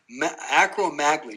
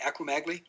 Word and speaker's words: acromegaly: the acro acro acro acromaglia did i say it right acromegaly very close acromegaly oh acromegaly okay you've created the